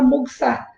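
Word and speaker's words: もぐさ: Moxabustão, basicamente viria de moxa, se assemelha muito a uma palavra japonesa, que é moguçá, só que o U geralmente não é pronunciado, então fica moguçá.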